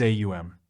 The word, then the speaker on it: aum: In English the brief form om is used. The right use in Hindustani is aum.